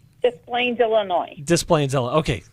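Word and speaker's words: Des Plaines: B and let me see if I I pronounces correctly desplenes Illinois so B are you okay with that you say it B the Plains Illinois just Plaines Illinois okay good good excellent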